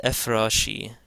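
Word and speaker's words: ⲫ̀ⲣⲁϣⲓ: And again there's a jinkham over the fay at the start of this word. And here we're using the shai. Now if you can find the shai, it's the fourth letter of this word. So this is ephrashi.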